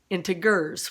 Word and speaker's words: integers: modeling edition of integers i say integers my sister says into gurs which i always thought sounded weird but then i found out she's right it's an alternative pronunciation i don't know if it's british or what all right so this